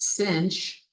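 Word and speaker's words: sinh: over two and the hyperbolic sign function pronounced cinch is almost identical we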